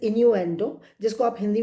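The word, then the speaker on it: innuendo: इसकी स्पेलिंग आप लिखेंगे I double N यू ई एन do that is इनू एंडो जिसको आप हिंदी में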